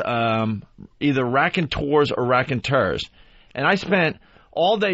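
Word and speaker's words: Raconteurs: pronounce their name yeah I was saying rack and tours all day Don Wickland says no it's rack and turs I thought I so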